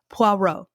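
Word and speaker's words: Poirot: around this character Hercules there's a French way of pronouncing it um puero Hercules who is a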